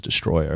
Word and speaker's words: Destoroyah: Well, the film still, like, even the Japanese say it as Destroyer. Oh, Destroyer. They spell it Destoroyah.